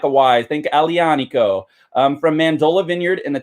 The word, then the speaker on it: Aglianico: want to call this agggghhhhh Liana Co that G is a soft G when you pronounce it so it's more like a wise thank Ali ah Nico from mandola vineyard in